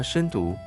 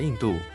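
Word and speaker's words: 印度: 它深毒，有人叫它咸豆，众说纷纭。如今依照正确的读音，应该叫它印度。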